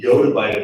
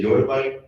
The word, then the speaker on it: yottabyte: And some people say, yottabyte, some people say yottabyte, I prefer to say yottabyte personally, because I think it's the best pronunciation of it.